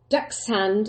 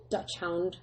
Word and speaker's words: dachshund: a cross between a dachshund and a corgi. I think that's how you say it, dachshund and a corgi. I think sometimes pronounced as Dutch hound, but that's not right.